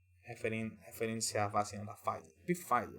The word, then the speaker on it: Pfizer: Pfizer, mas se eu for falar em inglês, não esqueça de que o P nesse caso é mudo, né? Então a gente fala Pfizer.